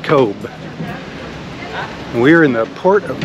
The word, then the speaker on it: Cobh: the ship today in Kobe Ireland I mean it looks like it says Cobb but I think they pronounce it Kobe we're in the port